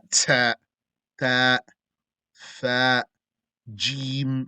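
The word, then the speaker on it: ج: You say alif, ba, ta, not ta, ta, fa, Jim from the middle of your tongue. Jim, not from the front, not Jim, might sound the same. Pronounce it from the middle. Jim, etc.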